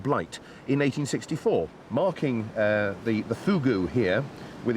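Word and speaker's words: fogou: No, Fugu. I know it's spelt F-O-G-O-U, but it's pronounced Fugu.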